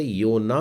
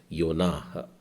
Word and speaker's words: योनाह: हम लोग हिंदी में इसे योना बोलते हैं, लेकिन इब्री उच्चारण योना और ह भी हल्का सा बोलना है, योनाह।